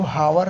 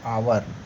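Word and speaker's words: hour: जैसे आप लोग आवर, समय आपको दिया जाता है, आवर जिसका मतलब होता है घंटा, तो इसको हावर नहीं पढ़ा जाता, इसको क्या पढ़ा जाता है, आवर।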